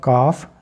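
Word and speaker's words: calf: पर भी एल की आवाज नहीं है और काफ गाय का बछड़ा जो होता है जिसकी हमने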